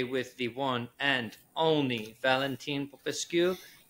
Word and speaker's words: Valentin Popescu: We are here today with the one and only Valentin Popescu. Please correct me if I pronounced that wrong. That's okay. Pronounced very well.